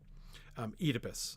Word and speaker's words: Oedipus: In England, they pronounce the OE vowel in Greek as a long E. Oedipus is how most English people will say that name.